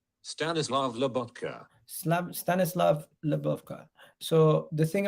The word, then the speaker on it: Stanislav Lobotka: Seslev, let me pronounce his name. Stanislav Lobotka.